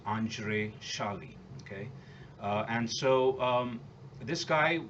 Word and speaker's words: Andrzej: and by the way, the way it's pronounced is Andrzej. Okay, it's a Hungarian name, and it's Andzrej, and the pronunciation is Andrei Shali.